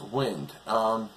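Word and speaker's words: Wyynde: It's spelled W-Y-Y-N-D-E, but it's pronounced Wynd.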